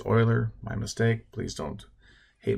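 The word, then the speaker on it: Euler: a Swiss mathematician Leonard yuler or sorry that's actually pronounce Oiler my mistake please don't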